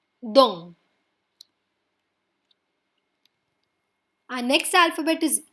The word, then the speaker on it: dent: This word also ends in a consonant which is T. That's why we do not pronounce the T and end at EN. N will give a little sound from the nose.